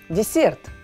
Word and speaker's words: dessert: for дежурит и дизайн десерт пишется с двумя с считается также пока дезертировать дизайн после да и ударение на второй слог дизайн будьте like peach азам